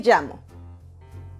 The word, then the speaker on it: llamo: Double L most often sound like the English letter Y, as in the word yellow, and yes is the